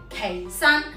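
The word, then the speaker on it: 祁山: 普通话和粤语只有一个读音，普通话读此，粤语读岐，岐山。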